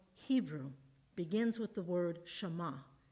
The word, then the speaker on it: Shema: The beginning of that verse in the original Hebrew begins with the word Shema. It's sometimes pronounced Shema.